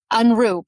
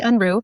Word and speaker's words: Unruh: Is that how you pronounce it? Unruh. Unruh, perfect. Madi Unruh.